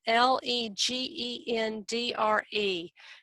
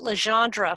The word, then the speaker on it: LeGendre: Spell that again, Legendre. I pronounced it Legendre for the first year I was working on the research and had to be politely corrected by Gertie's former secretary. This Legendre.